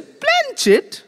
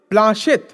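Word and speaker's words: planchette: প্ল্যানচেট। প্ল্যানচেট? প্ল্যানচেট কাকে বলে? তুই একটা গাধা, প্ল্যানচেট করে ভূত নামায় জানিস নে? এর মধ্যেই কোত্থেকে পাঠার ঘুগনি চাটতে চাটতে ক্যাবলা এসে পড়েছে। ভুল হলো, ওর উচ্চারণ হবে প্লাঁশেত।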